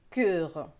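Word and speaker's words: cœur: le mot coeur voyez moi je prononce le mot coeur avec 1 1 voyez a eu bien ouvert un coeur dans d'autres régions ça va se prononcer cure voilà donc c'est à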